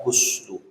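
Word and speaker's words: غُسْل: Kalau kata-kata ghasala dibaca pakai domah. Huslu artinya mandi. Tapi kalau dibaca pakai fathah, goslu artinya membasuh.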